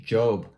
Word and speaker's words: Job: So in the Bible, there was somebody named Job, right? It's spelled J-O-B, but it's pronounced J-O-H-B, like Job.